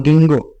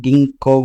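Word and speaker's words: ginkgo: भी बोलते हैं, साइकट्स बोलते हैं, अलग अलग प्रोनाउंसिएशन है, आप कैसे भी ट्रीट कर सकते हैं इसको, ठीक है। और गिंगो, किसी को कुछ लोग गिंगो बोलते हैं, कुछ लोग गिंको बोलते हैं, कुछ लोग इसको बोलते हैं गिंगोस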